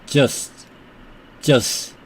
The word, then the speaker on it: just: 그 다음에 계속해서 keep 그냥 just t를 거의 발음하지 않습니다.